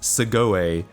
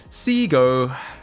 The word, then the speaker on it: Segoe: Japanese pronunciation now, and those letters would be pronounced Segoe in Japanese, but it's not a Japanese word, so it's wrong to say that. Seago.